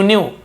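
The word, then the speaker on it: knew: भी लगा हुआ है, लेकिन के साइलेंट होता है, जैसे नो में साइलेंट है वैसे ही न्यू में, तो हम न्यू नहीं पढ़ेंगे, न्यू पढ़ेंगे, लेकिन के को लिखना जरूरी है।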